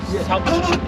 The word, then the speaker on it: ផ្សោត: say south. South. South. South, Like south. south. South, yeah, yeah. Ah, como con la P primero. South. South. Yeah, South. And is Irrawaddy? Irrawaddy. Irrawaddy. South.